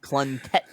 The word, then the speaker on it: Plunkett: It's pronounced Plunkett.